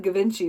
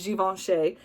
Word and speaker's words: Givenchy: giveaway shay a lot of people call it givenchy but it's juventus is i call it my angel and demon